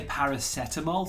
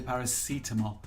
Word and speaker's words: paracetamol: or some people say paracetamol some people say paracetamol I don't know why two different pronunciations both are correct Salah Maria anyone watching